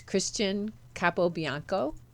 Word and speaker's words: Christian Capobianco: So, today, my guest is my friend, and her name is Christian Capobinaco.